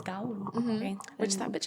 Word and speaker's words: Gaul: Why is there a U there? I don't know. You're not supposed to Gaul. Pronounce it. It's Gaul.